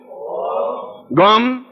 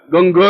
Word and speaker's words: गं: बोलिए ओम गम। अब देखिए मैं म बोला है, गंग नहीं बोला है, गंग नहीं बोलना है, गम बोलना है।